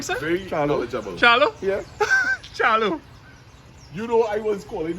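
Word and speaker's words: Charleau: Charlo.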